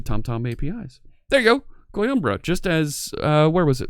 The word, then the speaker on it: Coimbra: Coimbra? Am I pronouncing that right? Coimbra.